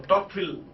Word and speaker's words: Tocqueville: Alex Tocqueville, right? Or Tocqueville, if you pronounce it in French way.